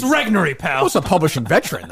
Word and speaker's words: Regnery: the one place I have Robert's back is, of all people, to correct his pronunciation on something. Steve Robinson. The publishing. It's Regnery, pal.